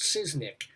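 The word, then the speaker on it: Szysznyk: Back in the day, they took a chance in 1977 on a TV comedy, SZYK, which I assume is pronounced Siznik.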